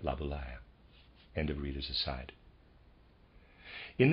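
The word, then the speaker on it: Laboulaye: Stewart Mill readers aside I'm pronouncing laaya probably incorrectly it's a French word I'm supposing and it's spelled l a b o u l a ye and I'm pronouncing that labula end of readers side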